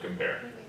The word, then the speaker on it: compare: okay shall I compare so I chose to make sure that that was AWA because it's the unaccented syllable of compare right compare instead come it's not come but compare the to a one